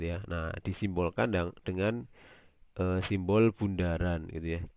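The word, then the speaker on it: ∘: Bisa f bundaran, ini bacanya bundaran ya, bukan o ya, tapi bundaran f bundaran g, atau bisa juga f komposisi g, atau kebalikannya G bundaran F juga bisa.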